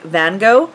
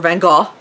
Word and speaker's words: van Gogh: go go red but like van gogh like vince mango who's like or van gaal if you want to say it like properly uh who is my